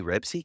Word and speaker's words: Ribisi: Ribisi, Not alright, my Ribsy.